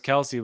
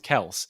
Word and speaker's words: Kelce: Everyone calls him Travis Kelce, but it's actually pronounced Kels, and he's just never said anything over his whole career up until like this season.